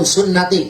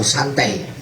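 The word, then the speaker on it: سنتي: Kade bacanya, jangan an-nikahu santai. Baca kitabnya harus benar. An-nikahu sunnati. Memang tulisannya sama. Arab pegon, santai, dan sunnati sama itu. Yang tulis Arab pegon itu bacanya an-nikahu santai. Bukan nikahu santai, an-nikahu sunnati.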